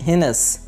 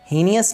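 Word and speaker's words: heinous: घिनौनी की इंग्लिश होती है हिनस, हीनियस नहीं है ये लफ्ज़, हिनस, हिनस।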